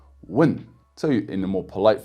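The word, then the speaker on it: 问: example with the Chinese word for ask which is win with the fourth tone win so in a more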